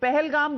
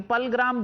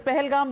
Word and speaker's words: Pahalgam: पहलगाम बोलना तो आता नहीं, पलग्राम बोल रहे हैं आप उसको. So clearly they want Kashmir for themselves. Pahalgam bolna aata nahi.